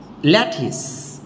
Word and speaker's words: lettuce: ক্ষেত্রে দেখবেন যে বানান যেমন যেমন উস এটা লেটুস হওয়ার কথা ছিল বাট এটাকে ইংরেজিরা উচ্চারণ করে ল্যাটিস উচ্চারণটা কেমন হবে ল্যাটিস ঠিক আছে আর বলছিলাম